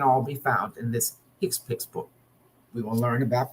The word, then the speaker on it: HCPCS: this book that the the acronym hcpcs is pronounced hick piix it stands for healthcare proced ual coding system